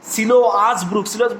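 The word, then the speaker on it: Siloa's brook: এবং শুধু তাই নয়, উচ্চারণটা হবে সিলোয়াস ব্রুক হচ্ছে নদী, that followed first by the oracle of গড, যেটা ভগবানের অরাকালের সামনে আসতো, ঠিক আছে?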